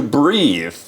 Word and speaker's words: breath: So when you go into that dirty bathroom, try not to breathe.